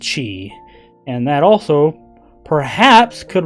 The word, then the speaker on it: chi: also have a few others X Chi it's pronounced Chi and that also perhaps could refer to xerus